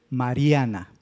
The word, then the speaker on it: Mariana: Si ponemos más fuerte Pronunciamos más fuerte la última sílaba, ¿cómo diría? Mariana, porque la última, ¿verdad? La estamos pronunciando fuerte. La penúltima, Mariana. Y la antepenúltima, que sería la ma, sería Mariana. No podría ser esas dos lecturas. Lo correcto es Mariana.